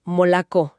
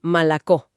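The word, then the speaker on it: молоко: Una O que no lleva el acento a menudo suena más como una a. El ejemplo típico es molco, leche que se pronuncia más bien malacó y la diferencia entre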